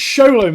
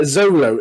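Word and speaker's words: Xolo: It's things like Zolo. Is it Zolo? It's like, yeah, it begins with an X, but it's pronounced like Sholo.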